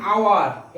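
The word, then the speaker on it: hour: খেয়াল করো এইচ এর উচ্চারণ আ হচ্ছে, এইচ এর উচ্চারণ আ হচ্ছে, এন আওয়ার।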